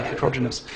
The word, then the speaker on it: heterogeneous: It's a hard word to say, heterogeneous. Heterogeneous is sometimes easier to put the emphasis on the different syllable.